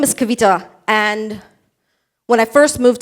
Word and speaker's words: Kavita: no you know what my name is Kavita this is how you say it ask me a million